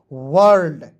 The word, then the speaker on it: world: ठीक है ना, यहाँ आप देखेंगे WORLD, तो इसे पढ़ेंगे वर्ल्ड। कैसे, देखिए WORLD, तो इसका देखिए WO का उच्चारण औ के रूप में करेंगे, L का आधा ल और D का ड लिखेंगे। ठीक है, और R है दोस्तों, रेप लगा देंगे ऊपर।